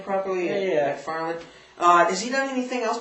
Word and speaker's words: MacFarlane: Am I pronouncing his name properly? Yeah. MacFarlane.